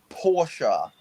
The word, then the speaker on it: Porsche: So I like that you say Porsche because that's the upper class way of pronouncing it.